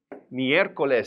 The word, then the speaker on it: miércoles: little bit and then Wednesday what is called miércoles this is a big word and sometimes we